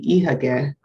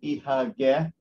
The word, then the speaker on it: Ihagee: I am Vladimir Khazan, and today we are going to talk about company name Ihagee, which spelled in German and pronounced in German this way.